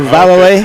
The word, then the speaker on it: Valole: So there's 2 L's there. They pronounce them both. So Valole. Okay.